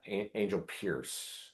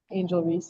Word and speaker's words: Angel Reese: Um, you say that your favorite professional athlete is Angela Angel Pierce. Uh, do you just want to expand a bit on that? Am I pronouncing that correctly? Angel Reese.